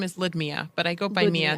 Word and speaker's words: Ludmya: it's Okay, I was just wondering how to pronounce it. No, it's Ludmya.